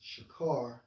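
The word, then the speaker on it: שָׁכַר: to it you know for drunken H 7937 pronounced as shakar which means abundantly right and according to uh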